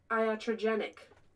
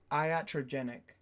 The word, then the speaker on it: iatrogenic: And its pronunciation is iatrogenic. Iatrogenic.